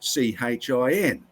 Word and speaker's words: Qin: The QIN, which is an antiquated way of spelling it, is actually pronounced CHIN in modern day English.